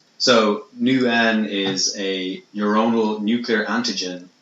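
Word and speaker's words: NeuN: genetic ething basically there's something called and I pronounce this you knew n so nu n is a neuronal nuclear antigen which is used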